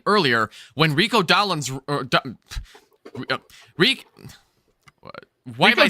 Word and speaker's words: Dowdle: So I could see the Carolina Panthers getting a good offense going, like I was saying earlier, when Rico Dowdle's... Why am I saying his name wrong?